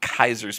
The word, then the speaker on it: Caesars: I still don't understand why this isn't Kaiser's Palace. I mean, if anybody took Latin in high school or college, there's no soft C. AE is always pronounced as I. Kaiser's.